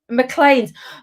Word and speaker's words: McLean: good evening everybody um mclean's mclean's the distillery's on colin's on colleen's on colin has said mclean is the pronunciation thank you colin colin